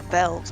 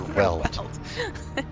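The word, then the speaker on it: Weald: Why do I call it Veld? Why do I pronounce it like a German? Yeah, it's not the Veld in the like African sense Yeah. of Veld. It's the Azure Weld.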